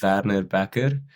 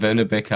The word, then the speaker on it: Werner Bekker: But so in Afrikaans, you'd pronounce it Werner Bekker. But in English, I'd like sort of go between Verna, like the British people would say, and like Becker sounds good. I think it's sort of like a CK sound, but it's with two Ks. It's a bit hard. Werner Becker, I suppose.